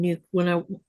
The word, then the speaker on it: Nuuk: I just think people need to pronounce the name right. It's not Nook.